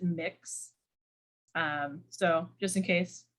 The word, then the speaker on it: Mx: is an option uh that's mx and you pronounce it mix um so just in